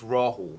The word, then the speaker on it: Rahul: do it on purpose well it's it's rawle there's an H in it but it it we